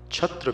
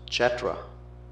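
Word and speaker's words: छत्र: Chakra becomes Kakra, Gacha becomes Gotcha, Chhatra becomes Chatra, all of them wrong.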